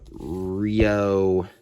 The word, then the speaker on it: REO: Rio. Or sorry, not Rio. Rio. I don't know how to say that. It's spelled R-E-O.